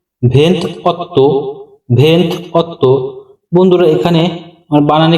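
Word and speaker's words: ventotto: 27 তারপরে রয়েছে 28 28 এর ইতালিয়ান উচ্চারণ ভেন্থ অত্য ভেন্থ অত্য বন্ধুরা এখানে বানানে একটু ভুল আছে বাংলা উচ্চারণটা একটু বুঝে নেবেন এটা হবে ভেন্ত অত্য পরবর্তী শব্দ 29 29 এর ইতালিয়ান উচ্চারণ ভেন্তি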